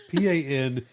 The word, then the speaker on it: Panguitch: It's Panguitch. That's Panguitch to me. It's like that's how I would say it. It's almost like a penguin sandwich.